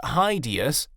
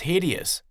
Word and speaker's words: hideous: extremely ugly or bad be careful with the pronunciation of this word it's not hideous it's hideous the Eiffel Tower was considered